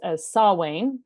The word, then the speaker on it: Samhain: this the metal band you say Samhain if you're saying the metal band I mean that's how I've heard the metal band but I think the Celtic pronunciation is Saul Wayne that's another way to say it and then you